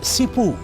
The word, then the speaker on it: Simbu: Chimu in the Kumar language is pronounced Cipu and Cipu is an expression of gratitude or appreciation.